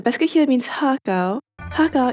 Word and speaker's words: har gow: Har Gow is the Cantonese pronunciation. The Chinese one would be Xia Jiao, but I never really used the Mandarin pronunciation. I only heard it with Har Gow.